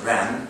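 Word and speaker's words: 仁: Likewise, Confucianism seeks the roots of everything from universal moral order called benevolence, pronounced Ren in Chinese, righteous, pronounced Yi, courtesy, pronounced in Chinese Li, wisdom, Zi, and considered these moral orders are immanent in human.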